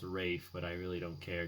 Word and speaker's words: Ralph: voldemort who was also in schindler's list uh ralph finds i know it's pronounced rafe but i really don't care to me it's